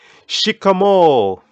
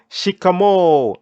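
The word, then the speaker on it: shikamoo: used in kiswahili is shikamo can you pronounce that shikamo and I want you to hear I want to hear that prolonged or at the end whenever you have double vowels in kiswahili at the end you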